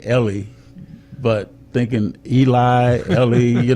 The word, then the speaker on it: Eli: Well, but you know what I always say is it's pronounced Ellie, but it's spelled Eli.